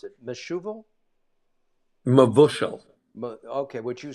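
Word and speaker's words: mevushal: just so that and it's pronounced exactly the way it's spelled m-e-v-u-s-h-a-l me Vu Xiao uh any wine that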